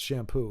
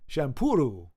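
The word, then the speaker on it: Champloo: oh and I think it's not pronounced shampoo it's champuru champuru Samurai champuru which sounds a lot more than champoo or champo oh no okay that's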